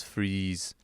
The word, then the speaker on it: Fries: Freeze. It's a German name. Victor von Fries, I Mhm. think is how they say it. And Yeah, then yeah. he's like, no, it's Freeze.